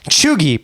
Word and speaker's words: cheugy: Chuggy, pronounced as chuggy, is used to describe something which is cringe, not cool, or trendy, or like this stupid frickin' word.